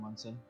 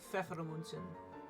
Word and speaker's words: Pfeffermunzen: Is anyone who's keeping track of the 10 fair from Munson? The 15 Fjordmundsen? Fear. How do you say it again? Pfeffermunzen.